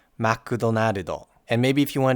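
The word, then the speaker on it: マクドナルド: And you might be asking yourself, why are these words pronounced with so many extra syllables?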